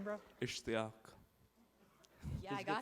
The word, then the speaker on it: Ishtiaq: Ishtiaq.